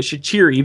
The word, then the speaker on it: Shaqiri: and in the video i was pronouncing it shichiri because that's actually technically how it's supposed to be pronounced and he said shaqiri